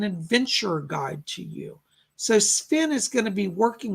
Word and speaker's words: Sven: my name is sven he pronounces it sven like s-v-e-n he says i'm sven